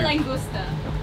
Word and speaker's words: Langlois: Try to pronounce it if you're not French. I say langusta. Langusta, which is like lobster.